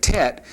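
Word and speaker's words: טית: the wrong letter, but Tet is a a definite t sound and it's uh produced by placing the tongue firmly against the pallet and uh transliterated t like time or something along that line would be how the tet would be pronounced.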